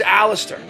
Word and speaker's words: Aleister: When you go meet the guy, hi, my name's Aleister. It's Aleister Crowley's professional, but Aleister is the name he goes by. And that's what everybody refers to him by. And it's a 3-syllable word, Aleister.